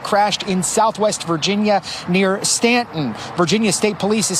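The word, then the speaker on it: Staunton: for saying Stanton right because normally people that are not from Virginia would say Stuntin or something that's the way it's spelled s-t-a-u-n-t-o-n but it's called Stanton I got family out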